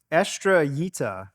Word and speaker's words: Estrellita: Estrellita is how you pronounce this. Actually, for years I've pronounced it Estrellita, but recently it was brought to my attention that I was saying it wrong.